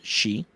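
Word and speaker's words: χ: And when when we come back I I'm we are going to watch the uh X but it's actually pronounced she and X back cover or key whatever you whatever you're vibing with.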